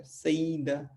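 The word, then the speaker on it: saída: तो ये यहाँ पे ए और आई मिलके आपको अलग अलग इनको नहीं पढ़ना, ये दोनों मिलकर एक अक्षर बन जाते हैं, एक उच्चारण, एक आवाज़ बन जाते हैं। तो हमें इनको पढ़ना है सईदा, ठीक है।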